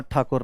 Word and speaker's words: ठाकुर: इनको अंग्रेजों को अ, ठाकुर बोलना नहीं आता था, इसीलिए वो ठाकुर को टैगोर टैगोर टैगोर टैगोर करा करते। टैगोर से क्या बन गया, टैगोर, टैगोर टैगोर प्रोनाउंसिएशन बन गई, पर टैगोर नाम से ऐसा कुछ है नहीं।